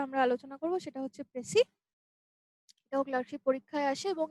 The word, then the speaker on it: précis: আচ্ছা, যদিও এখানে প্রেসিস লাস্টে একটা এস রয়েছে, কিন্তু আমরা এই এসটার উচ্চারণটা করি না, আমরা বলি প্রেসি। প্রেসিস রাইটিং না, কিন্তু আমরা বলবো প্রেসি writing, not প্রেসিস, ইটস প্রেসি, প্রেসি writing.